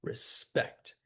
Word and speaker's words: respect: We say the word that way. Respect. With the stress on the last syllable.